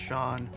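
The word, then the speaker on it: Seán: It's originally an Irish word, and it's spelled Sheen, but it's pronounced Sean.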